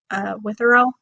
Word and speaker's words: Witherell: Actually, the illustrations are done by, I believe, Grace Witherell. Witherell, that's how you say it.